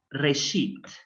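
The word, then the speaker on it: רֵאשִׁית: La Aleph no tiene vocal, por lo tanto es silente. Entonces es Re, Shin con puntito abajo acompañada de la Yod. Entonces sería la sílaba así. Re, Shi y una Taf final sin vocal. Entonces, eso lo vamos a leer. Reshit.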